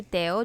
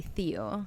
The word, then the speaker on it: Theo: And you guys are going to hear me say Teo just because that's how we say it in Spanish. And it's also how you say it in French, right? Yes, it is. Yeah. So I don't say Theo.